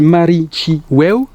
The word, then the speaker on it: Marichiweu: a déjà 2-3 ans, qui se prononce et qui se dit Marichiweu, qui est du Mapuche,